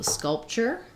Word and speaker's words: sculpture: last syllable okay and then also sculpture so for scalp skull chair the P of the T of the P gets a little bit swallowed so if I have